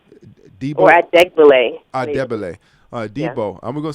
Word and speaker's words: Adegbile: glory, and also people like, how do we pronounce the brother's name? Ajibel? Yeah, Debo Adegbile. Debo, or Adegbile.